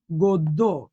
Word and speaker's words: গদ্য: এটার উচ্চারণ হচ্ছে গদ্য।